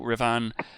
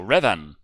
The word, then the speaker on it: Revan: Okay, Creed Nation dropped $4.99 saying no Revan, as in the one movie Leonardo DiCaprio was in called The Revenant, just with an A. Any Old Republic fan would know how to pronounce it. So Revan.